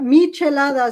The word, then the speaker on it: michelada: do these they're called chalada is that how it's pronounced it's a michelada so there's a history